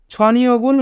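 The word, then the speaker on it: 저녁을: ছনিয়গুল মগদা রাতের খাবার খাওয়া। এখানে বাচ্চিমের পরে ইয়ং থাকার কারণে ইয়ং স্থানে বাচ্চিমটি যাবে, তাই উচ্চারণ হবে ছনিয়গুল।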